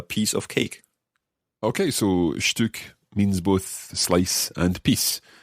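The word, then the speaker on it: Stück: example einstein a piece of cake okay so shtuk means both slice and peace depends in what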